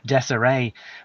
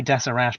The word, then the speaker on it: Deseret: the state of Deseret maybe it's called Desiree but I'll say desirash pronounce the the T at the end and apparently the word